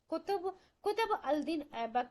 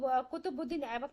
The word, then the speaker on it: कुतुबुद्दीन ऐबक: जो है, या फिर कुतुबुद्दीन ऐबक, या फिर कुतुबुद्दीन ऐबक, देखिए अलग अलग प्रोनाउंसिएशन है इसका, अलग अलग तरीके से इसका नाम है, तो आप ध्यान रखिएगा कुतुबुद्दीन ऐबक नाम याद रखिएगा।